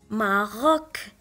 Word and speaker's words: Maroc: Le mot suivant, on a C à la fin du mot, donc on va la prononcer K, Maroc.